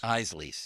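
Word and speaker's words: Isaly's: how do you say the chip tamam Place Isley Isley yes thank you Isley Etna beos and Greater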